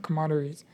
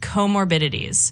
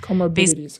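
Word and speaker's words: comorbidities: It's not commoderies.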